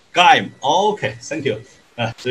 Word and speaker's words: Geim: So how to pronounce that? Geim. Geim. Oh, okay, thank you. So it would be confusing to say Heim or Jim or Geim. Actually, it's Geim.